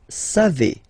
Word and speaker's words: savez: Then vous savez, classic ending for vous, E-Z, but then phonetically it's E, vous savez, savez.